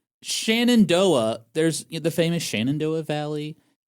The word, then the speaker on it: Shenandoah: s h e n a n d o a h Oh. Shenandoah. Okay, you know what? pronounce it as Shendo.